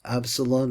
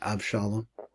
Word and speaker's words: Avshalom: come to pass when AB Absalon as we pronounce it abshalom overthrew D David he